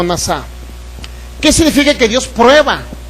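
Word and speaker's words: נָסָה: Es una palabra que se puede pronunciar o se escribe como nasá.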